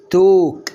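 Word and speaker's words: talk: اول كلمة اهي، ادي التي والايه الا اهي، وادي الكي تبقى ايه؟ توك. برافو، يبقى يتكلم يعني ايه؟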